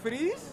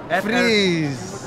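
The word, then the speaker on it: Friz: Freeze? Yeah, yeah, yeah. Like ice? We call it freeze when we say it, but it's spelled the other way.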